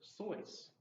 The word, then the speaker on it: Seuss: sois and he had some kind of rhyme with that I forget the dr. sois like rhyme rhymes with noise not whatever yeah it was originally dr.